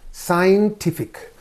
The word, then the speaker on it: scientific: So here scientific. So ik is again there. This is the syllable preceding the suffix. Therefore scientific. Scientific.